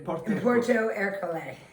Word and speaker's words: Porto Ercole: In Porto Ercole. But I'm not pronouncing it with the right Italian accent. Ercole. There we go.